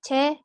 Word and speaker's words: chi: Untuk cara pengucapannya ini ci. Ci. Nah, ini sama mungkin kayak huruf shi ya, ada h-nya. Jadi bukan ci tapi chi. Ci.